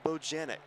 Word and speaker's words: Bojanic: That is Paul Bojanic. So we've got that pronunciation for the rest of the season.